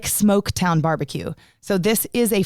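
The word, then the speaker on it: Smoaktown: And it's not spelled like smoke, like typical.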